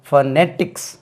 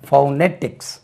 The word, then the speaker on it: phonetics: ஐ சி எஸ் பர்னெடிக்ஸ் இதுக்கு ரெண்டு உச்சரிப்பு இருக்கு ஒன்னு வந்து ஃபர்னெடிக்ஸ் stress lies on the second syllable ஃபர்னெடிக்ஸ் அதாவது ஸ்டடி ஆஃப் சவுண்ட்ஸ் ஃபர்னெடிக்ஸ் இனி ஒன்னு போனடிக்ஸ் இதை பாருங்க இப்படி எழுதி இருப்பாங்க அது பௌ நெட்டிக்ஸ் பௌனெட்டிக்ஸ் ஐதர் யூ கேன் ப்ரொனௌன்ஸ் பௌனெட்டிக்ஸ்